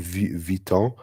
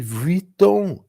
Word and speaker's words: Vuitton: How do you say that in French? Louis Vuitton. And it's like, no, in English we say Louis Vuitton. It's like, no, it's Vuitton, Vuitton.